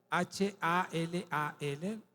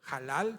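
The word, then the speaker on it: הלל: elogiar la palabra es h a L A l se la deletreo halal si pudiéramos pronunciarlo así h a L A l halal o halal y esta palabra hebrea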